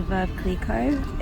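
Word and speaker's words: Veuve Clicquot: journey here we've got the champagne is the verb cleco it's that's how you pronounce it or the orange one as I'd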